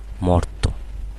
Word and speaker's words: মর্ত: এর সাথে অ ছিল এই অ এর উচ্চারণ অ এর মতোই থাকবে ও এর মতো হবে না যেমন মর্ত হবে না কি হবে মর্ত অন্ত হবে না কি